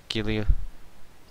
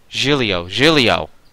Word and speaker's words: Giulio: And you say Gilio. Try saying Gilio like you say... Djibouti? Giulio.